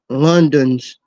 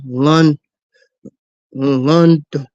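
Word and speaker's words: Londos: four times and the longest Reign was Jim London's well my bad I'm sorry I mispronounced his name the man with the longest rain was Jim L lond at 260 well in two in 2,628 days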